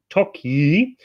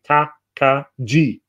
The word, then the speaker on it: Tokaj: the word pronunciation and the J is pronounced like a Y in the word you so told you you